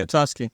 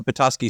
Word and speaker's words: Petoskey: Petoskey. Yeah. Petoskey.